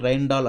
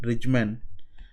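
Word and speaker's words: Rijmen: So one of the author of this algorithm is Vincent Rijndael. I am just pronounce it like an English word.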